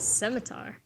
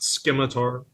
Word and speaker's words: scimitar: big weapons what's a scimitar like an Arabian short sword yeah and thank you for pronouncing it correctly Scimitar not skimmatory it's actually Skye he